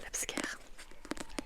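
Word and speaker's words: Laipsker: crois mais c'est Alexis Labscare la Labscare, je sais pas prononcer. Donc L A I P S K Rlexique. Donc Alexis L A I P comme papa S K E R C'est l'abscre.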